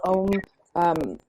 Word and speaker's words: Ogham: And we're circling back to Etsy and our small shops, but there are some really cool kits of the Ogham. Some people call it Om.